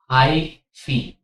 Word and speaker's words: hyphae: हम इसको बोलते हैं हाईफी। ठीक है, इसकी स्पेलिंग HYPHAE, हाईफी बोलते हैं हम इसको।